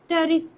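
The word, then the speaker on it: Pteris: टेरिस कैसा होता है टेरिस ऐसा कुछ होता है ठीक है तो टेरिस को कभी आप निकाल के देखना टेरिस यह वाला टेरेस नहीं जो बोल रही यह वाला टेस टेरिस प साइलेंट तो टेस का कभी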